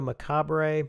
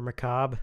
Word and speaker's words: Macabre: Into the mix, an interview with sound re-recordist Chris Jenkins, Mondo Macabre, or Macabre, depending on how you want to pronounce that.